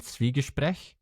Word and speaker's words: Zwiegespräch: It's Schwie from Zwiebeln, and that's Zwiebeln is an onion in German.